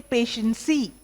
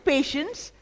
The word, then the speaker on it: patience: But there I've heard many people, when it comes to patience, they say patiency, which is very wrong. Even patience, the E is silent.